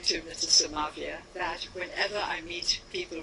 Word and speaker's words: Somavia: Somavia, he just told me to pronounce his name correctly. I was saying to Mrs. Somavia that whenever I meet people from South America,